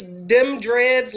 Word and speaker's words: Dem Dreads: I know, it's Dem Dreads, like DEM Dreads _ dat barbell.